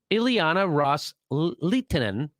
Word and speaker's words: Ileana Ros-Lehtinen: So Kerry reiterated to that offer that the Saudis and the Sunni Arab states had made to Representative Ileana Ros-Lehtinen, that's how you say her name, quote, with